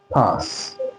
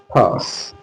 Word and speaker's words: pass: British English pronounce it as pass. Okay. Pass.